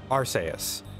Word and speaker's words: Arceus: there we go arseus so it is pronounced like Deus and it's a it's a soft uh C okay I don't really